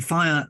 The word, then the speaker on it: FHIR: too much other things pronounce five of course but spelled like that so you can Google it pretty easily which is nice um yeah and even simpler so what is fire well Jason set of